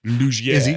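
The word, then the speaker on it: Laugier: Lugier. Hey, look Lugier. at that. Look, I can speak French now. Lugier.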